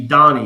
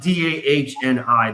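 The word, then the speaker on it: Dani: I always pronounce it Danny, but it's actually Donnie because German. German, okay. So it's like Dahni. That's how I picture it in my head when I say Donnie, not Donny like Donnie and Mary Osmond, but like Don.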